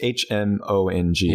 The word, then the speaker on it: Hmong: Mandarin and, do you pronounce it Hmong? Hmong? It's Hmong.